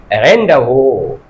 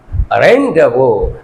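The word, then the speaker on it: rendezvous: और एक वर्ड है, मैं लिखता हूं, देखो रेन डे ज भोर, Aryan rain DE जेड VOUR रेंडवो, लेकिन ये नहीं है, इसका प्रोनाउंसिएशन जो है रेंडवो, रेंडवो।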